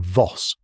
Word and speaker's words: Voss: Betrayer was their forgery meant to frame Elena Voss pronunciation Voss like boss with a V.